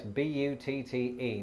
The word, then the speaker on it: butte: to say that yes b-u-t-t-e now before i go any further it's probably important in the interest of not being demonetized that i point out that this word is pronounced but and it's probably quite